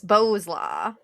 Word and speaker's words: Bowlaugh: Bowsla? It's Bowsla. Bowsla. Close enough.